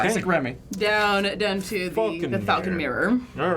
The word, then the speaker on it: Phaulkonmere: Down to the Falcon Mirror. All right. I wrote Falcon Mirror, Southern Mirror. It is spelled like crazy spelling. It's like PH. Falcon. PHAULKONMERE. Huh. Falcon. Falcon Mirror.